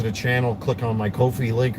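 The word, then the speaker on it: Ko-fi: channel, click on my Kofi link, or coffee, or however it's pronounced. I see people here on YouTube having different pronunciations for it. To me it's coffee, I guess.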